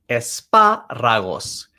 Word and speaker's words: espárragos: So we have that accent, espárragos.